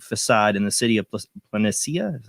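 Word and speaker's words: Palencia: of the blank facade in the city of planetsia is how you say it depicted a smiling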